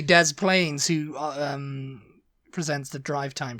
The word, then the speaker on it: Des Plaines: probably Des Pless illino but it's really Dez Plains who um presents the